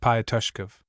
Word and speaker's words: Pyoskov: Pyoskov pursued. We cannot tell, the soldier cried a second time in just the same voice. All right, you can go. pronounced Payoskov.